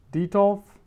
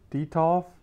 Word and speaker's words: Detolf: I think it's pronounced Detolf, Detolf, D-E-T-O-L-F.